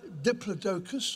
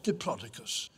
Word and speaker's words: Diplodocus: and here it is there are two ways of pronouncing its scientific name it's either Diplodocus or diplodicus either way it's a